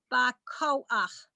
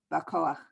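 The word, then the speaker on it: בכח: Okay, it's, don't forget when the backward Boha. C has this dot in it, it's the hard, like K. Bakoach. Bakoach.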